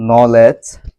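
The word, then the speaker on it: knowledge: জি উচ্চারণটি হচ্ছে জজ এখানে ডি এর কোন উচ্চারণ হয়নি আমরা আরো কিছু উদাহরণ যদি লক্ষ্য করি যেমন নলেজ এজ একনলেজ এখানে প্রতিটি শব্দেই ডি এর পর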